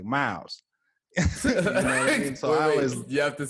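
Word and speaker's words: Mowes: folks say my name it's more like m-o-w-e-s like mouse you have to say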